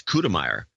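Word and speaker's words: Kutemeier: Kell cute cute kutiman I think it's coup de Meyer that's how you pronounce that cal coup de Meyer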